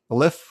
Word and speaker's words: elif: It's just called elif, I guess you pronounce it, ELIF.